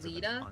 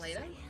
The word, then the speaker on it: Leda: murder at the It's pronounced Leda, not Leta.